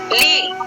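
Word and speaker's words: league: Tongue, L ई ए जी यू। लीग, इसको लिगी नहीं पढ़ेंगे, इसको लीग पढ़ेंगे, पी एल ए जी यू।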